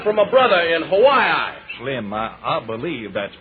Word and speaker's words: Hawaii: Say, I got a letter from my brother in Hawaii. Slim, I believe that's pronounced Hawaii.